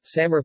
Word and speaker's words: Samre: Samre, Samre pronunciation, same, is a nearly extinct Perak language of Thailand and, formerly, Cambodia.